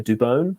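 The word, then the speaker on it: Dubón: um i've got maurizio dubone i believe the commentators in in san francisco are now finalizing that that is how you pronounce his surname dubon but yeah i've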